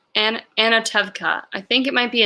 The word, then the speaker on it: Anatevka: Jim says it is an A and instead of an O, so it's Anatevka.